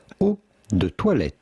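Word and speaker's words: eau de toilette: better than toilet water how do you go about pronouncing it in French we would say o theet theet but it'd be fine in English or American to say o theet oh theet from French oh theet here are many more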